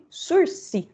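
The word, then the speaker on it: sursis: penal é o intitulado sursi o que é uma palavra francesa então nós vamos chamar de sursi não vamos pronunciar o s quando a gente disse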